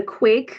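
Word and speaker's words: quaich: another thing that's really popular um is a quake or a loving cup ritual um it's a ceremony act often used in weddings to symbolize unity and commitment um the Quake it's pronounced Quake it's an actual two-handled Scottish drinking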